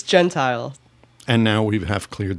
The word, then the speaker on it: Gentile: Uh yeah, it's it's Gentile and now we have cleared that up.